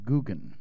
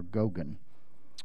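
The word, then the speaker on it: Geoghan: It's pronounced Gogan, I think, or Gogan.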